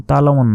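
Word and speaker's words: تَعْلَمُونَ: বলবেন কাল্লা সাওফা সাওফা তালামুন আমরা অনেকে কি বলি তালামুন বলি তালামুন তালামুন নয় দেখুন এখানে আইন অক্ষর আছে আইনের তো একটা উচ্চারণ আছে সে আইনের উচ্চারণ বাদ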